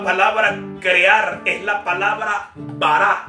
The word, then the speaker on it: bará: Y por eso la palabra crear es la palabra bará, así con B alta como suena, B-A-R-A, acento en la última, bará.